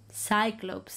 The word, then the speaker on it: Cyclopes: He explains how he ended up at the island of the Cyclopes, Cyclopes as they are pronounced in English.